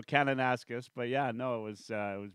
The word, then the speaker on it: Kananaskis: I'm probably going to butcher the name, Canassus. Yeah, you butchered it. Close. So I was- Eric's a Saskatchewan boy, and so Kananaskis.